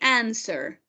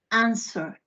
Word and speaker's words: answer: we're going to say answer answer right answer that's right answer okay what is not pronounced in answer what is not pronounced